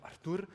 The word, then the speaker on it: Artur: run linters so as matt butchered my name my name is artur but he went with like spanish pronunciation of it so artur i'm a senior go